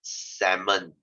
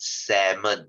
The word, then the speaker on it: salmon: word is pronounced as salmon okay salmon not salmon please don't say salmon i will cringe to high heaven it's called salmon the l is silent okay please don't say